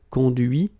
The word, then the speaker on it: conduit: Okay, so you can notice that even if I put this final T, so as usual, I don't pronounce it. Okay, conduit, construit, cuit, détruit, instruit.